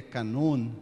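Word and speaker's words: κανών: grego Canon na verdade na pronúncia grega na acentuação grega Canon né vende uma palavras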